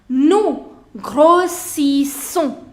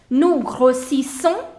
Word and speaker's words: grossissons: Nous grossissons. Grossissons. Two times you have double S, so the pronunciation will be s and s. Nous grossissons, vous grossissez, ils grossissent et elles grossissent.